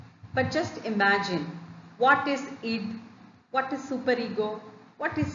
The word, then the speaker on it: id: Id, ego, superego. Many pronounce it as ID. It is id, ego, superego.